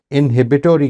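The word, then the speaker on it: inhibitory: आप अंग्रेज़ी ज़ुबान, ये अभी मैंने आपके सामने एक चीज़ बोली, इनहिबिटोरी कंट्रोल, ये है अमेरिकन प्रोनाउंसिएशन, इसी स्पेलिंग की ब्रिटिश प्रोनाउंसिएशन इनहिबिटरी कंट्रोल है, ठीक अच्छा, है।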